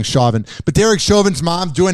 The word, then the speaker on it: Chauvin: I found out I've been saying it wrong, Chauvin.